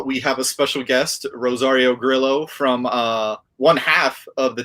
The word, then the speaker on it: Rosario Grillo: It's Rosario Grillo.